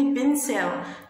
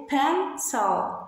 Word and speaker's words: pencil: محدش يقول لي بنسل، نو اتس رونج. هنقول ايه؟ بانسل. الايه هنا هتتقال ايه، وهنقول ايه؟ pencil pencil. عندي السي في الجزء الثاني ما بنطقهاش ك لاني واقع وراها الاي، فاقولها سي.